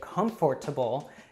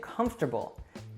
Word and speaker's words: comfortable: often becomes interesting and it's pretty rare that you'll hear and natives say comfortable usually we just say comfortable alright so tendency number